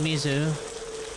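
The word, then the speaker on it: 水: do with water, because in Japanese that's the kanji for water, mizu. Not that the kanji is necessarily always pronounced that way, but but at least in that case it's pronounced mizu.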